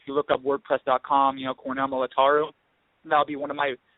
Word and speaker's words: Militaru: Oh, no, it was in English, but how you pronounce it in Romanian, it's Cornell Militaru.